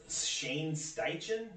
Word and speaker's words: Shane Steichen: years so yeah uh Colts uh hiring uh Shane steichen is how you pronounce it they're offensive coordinator uh they can